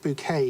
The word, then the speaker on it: Bucket: Well, Bucket pronounced bouquet in Keeping Up Appearances.